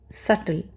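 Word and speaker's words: subtle: सल। बी यहां पे साइलेंट है।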